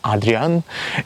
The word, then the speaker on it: Hadrian: pronounce his name correctly in Russian it is pronounced as Adrian in English I think it is Hadrian in case if I